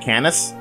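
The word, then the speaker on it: Canas: okay so this network icon is canis ipsi pronounced at canis and he is the shaman or for those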